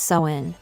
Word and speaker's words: Samhain: In the ancient Celtic festival of Samhain, pronounced Samhain. Samhain marked the end of harvest and the beginning of winter, the darker half of the year.